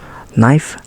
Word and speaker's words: knife: you know this one a k is not pronounced when it comes before an n for example knife no knee knock knot